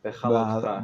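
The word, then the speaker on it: Behaalotecha: Behaloteka? Bahalotcha. Behalotcha.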